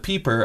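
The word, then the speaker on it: Pieper: i've read his name but i'm afraid to pronounce his name uh well you joseph peeper i think that's okay that is the technically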